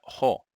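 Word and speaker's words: ὁ: Y se pronuncia jo.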